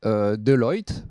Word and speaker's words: Deloitte: de conseil et d'audit Deloitte, j'ai appris qu'il fallait prononcer à l'anglo-saxonne, pour aider donc à mener à bien l'évaluation.